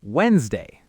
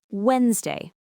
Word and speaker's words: Wednesday: In our syllable WS, the sound right before the S is N. Put your hand on your throat and say n. It's voiced. It buzzes. So the s that follows it has to become voiced too. It turns into a z. That's why we get the sound wen. That is a fantastic explanation. So the second syllable is easy. It's just day.